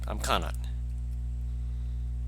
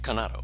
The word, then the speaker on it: Kanato: Oh, I'm Kanat. Boy. You know, you need to spell that. That's actually Kanato, but most people forget the O anyway.